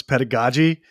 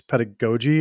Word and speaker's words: pedagogy: I thought it was pedagogy, but apparently it's pedagogy according to Google.